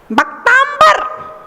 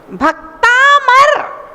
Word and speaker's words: भक्तामर: भक्तांबर, भक्तांबर नहीं है, भक्तामर। क्या है? भक्तामर स्तोत्र।